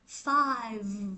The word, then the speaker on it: five: Fight fight đúng không còn cái số năm này nè mình sẽ đọc là five nó có âm v cái miệng của âm